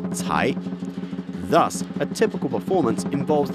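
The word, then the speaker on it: 财: The Chinese word cai, to pluck, sounds like the word for wealth, also pronounced cai.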